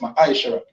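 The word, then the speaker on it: ma'aser: Means tenth in the Hebrew and is pronounced ma'ashara.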